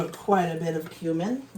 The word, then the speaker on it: cumin: I'm going to put quite a bit of cumin, or cumin, whatever you guys call it. I call it cumin. Everybody else calls it cumin, which I guess that is the proper way to say it. I do speak Spanish, so it would be cumin.